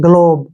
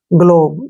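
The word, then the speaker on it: globe: का उच्चारण ब होगा ई का उच्चारण हम नहीं करेंगे ग्लोब क्या पढ़ेंगे इसको ग्लोब ग्लोब मींस होता है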